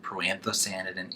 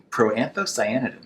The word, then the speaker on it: proanthocyanidin: It contains some amazing potent anthocyanidin and proanthocyanidin antioxidants.